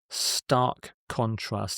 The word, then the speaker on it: stark contrast: Stark contrast. In normal speech, because of the K and the C, the two words are often spoken together. They're joined in stark contrast, in stark contrast.